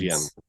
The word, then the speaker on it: Jens: Everyone calls him Jens, but the way he pronounced it in Danish is Yen. Okay. Yeah. Yen, like the Chinese money, the yen.